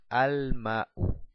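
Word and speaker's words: الماء: Abajo decimos ma'un, agua, más el artículo alef lam, decimos al-ma'u, el agua, al-ma'u. Puedo pronunciar el alef y el lam. Y al final dejo una sola dhamma en señal de la determinación.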